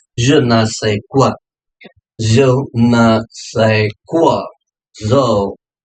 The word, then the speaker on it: je ne sais quoi: With the question number 15, it's a je ne sais quoi, right? This is what been pronounced as a je ne sais quoi.